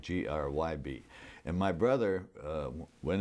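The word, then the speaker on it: Grzyb: is it yeah g-r-z-y-b now how do you pronounce that i used to pronounce the grid the the z being silent g like g r y b and my brother uh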